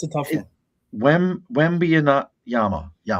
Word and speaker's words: Wembanyama: Wembanyama. Yeah, it's a tough one. Wembanyama. Yama. Because I know it's Yama at the end.